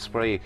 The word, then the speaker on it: Spraoi: suggested we call it spree. We had to ask what it meant. She said it meant celebration and exuberance. And someone said, "Let's go with it because it rhymes with 93."